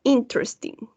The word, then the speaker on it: interesting: We're going to say interesting.